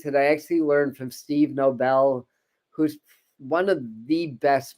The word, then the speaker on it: Nobel: I actually learned from Steve Nobel who's one of the best meditation facilitators and starseed facilitators on YouTube if you don't know who is he may pronounce his name Noble but it's spelled Nobel n-o-b-e-l Steve Nobel and